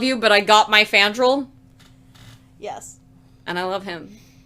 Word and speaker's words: Fandral: I will die on this hill named Frandral. Frandral? Fandral. Fandral. My bad. The R's at the end.